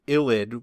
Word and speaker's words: ylide: a v and then illid with that y is pronounced ill like if you were to be sick and then id illid is the name